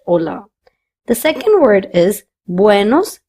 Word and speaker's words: hola: The h is silent. That's why we do not pronounce this word as hola but hola.